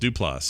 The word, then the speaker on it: Duplass: but he is correct it is des plots lost do plus with the emphasis on the last syllable yeah this is de